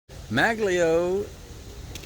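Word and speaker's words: Maglieaux: Maglio is spelled M-A-G-L-I-E-A-U-X. Like Maglio, Boudreaux, Monceau, all of them in the same here in Louisiana.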